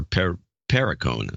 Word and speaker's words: Perricone: Matthew Cole Perricone, or Perricone. That's how it's pronounced.